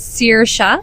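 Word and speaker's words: Saoirse: It is Sir, and it means freedom in Ireland.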